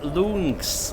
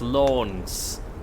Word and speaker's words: long: So those loons that I called them, they actually pronounced as loans.